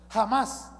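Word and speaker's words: חמס: Para los curiosos, ¿sabe cómo se dice violencia en el idioma hebreo? Jamás. Se escribe de la misma manera como este grupo violento, este grupo terrorista que vive ahí al lado de Israel, se escribe de la misma manera que es un un grupo violento, un un grupo corrupto.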